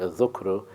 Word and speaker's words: dhikr: Dhikr, or it's actually pronounced dhukru, is to recall what you stored or what you had held in your memory.